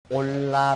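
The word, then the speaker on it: עולה: 많이 나오죠 번째는 12 원문으로 올라 라고 한다 올라고 그렇게 말하는 데 그것은 제물을 켜 온 연가 위로 올라간다 는 뜻을 가지고 있습니다 우리만이 발음하고 비슷하지 올라 그랬는데 1 안 있어 받았다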